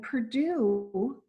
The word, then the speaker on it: Perdue: And Perdue is not spelled like the university, it's spelled like chicken.